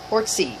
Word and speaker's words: Orczy: The Teahouse Detective, The Old Man in the Corner by Baroness Orczy, which I'm told is how you pronounce her name, and I hope I'm correct.